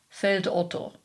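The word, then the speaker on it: Feldotto: for what it is, pronouncing it in a standard German fashion. Feld Otto, his neighbor, by the way, is named Feld Hans.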